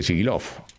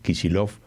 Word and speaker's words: Kicillof: que se llama Axel Kicillof, o Kicillof, ¿cómo se dice? Siempre me equivoco. Kisi, con C.